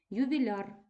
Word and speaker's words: ювіляр: наголошений суфікс мішана група ювіляр ювіляра ювіляру наголос нібито приклеєний до суфікса перед нами тверда група